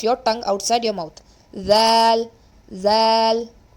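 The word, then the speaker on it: ذ: Zal. Now see, when you pronounce this letter Zal, your tip of the tongue will be touching the upper incisors, the upper 2 front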